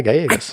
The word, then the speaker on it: Gallegos: Yeah, Gallegos. Got it. So the L's are Y.